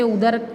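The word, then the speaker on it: ઉંદર: तो यहाँ अनुस्वार नहीं लगाने से उदर का मतलब पेट होता है, और अगर ये उदर में एक अनुस्वार लग जाए ऊ के ऊपर तो उसका प्रोनाउंसिएशन कैसे होगा, उंदर।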